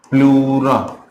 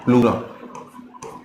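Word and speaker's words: pleura: Layer का नाम है प्लूरा। याद रखिएगा ये है प्लूरा। स्पेलिंग है पी एल ई यू आर ए ई प्लूरे। English में प्लूरे और हिंदी में प्लूरा कहते हैं।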